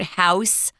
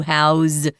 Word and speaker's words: house: point out we say house as a verb is pronounced with a z sound guys not an S you don't house up to 10 wombats you house these wombats so kind